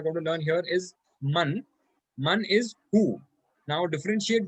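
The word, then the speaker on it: مَن: to learn here is man. Man is who. Now differentiate this from min. Man has a zabar or a fatha on it, and min has a kasra on the meme.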